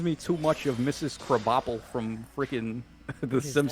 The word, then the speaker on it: Krabappel: Is it spelled like crabapple? Yeah, but it's Krabappel.